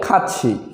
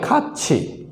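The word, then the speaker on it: 같이: তাহলে এটা হবে খাচ্ছি, খাচ্ছি। প্রথমে ছিল খাত ই, এরপর হচ্ছে খাত ই, এটাও তবাচ্ছিম, এটাও তবাচ্ছিম, এবং সঠিক উচ্চারণ হবে খাচ্ছি, খাচ্ছি। তাহলে থিউত বাচ্ছিমের পরে সর্বর্ণ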